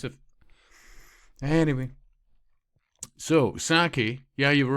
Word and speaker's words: Psaki: I just wanted to know how to pronounce it. Anyway. So, Saki, yeah, you were right there, Scott.